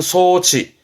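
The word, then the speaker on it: 装置: 이건 장자라, 장치입니다. 발음은 소치.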